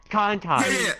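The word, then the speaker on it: Konton: Kantan.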